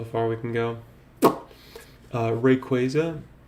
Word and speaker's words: Rayquaza: Uh Rayquaza, I I always have said it like this. It's Ray Quaza. It's pretty simple, guys.